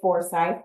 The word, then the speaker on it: Forsyth: And by the way, a lot of people say Forsyth, but I learned it's Forsyth. So just a little pronunciation lesson that most people don't know, especially if you're not from there.